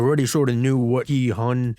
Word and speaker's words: Gi-hun: We already sort of knew what Gi-hun, that's how you say his name, 456, basically, what his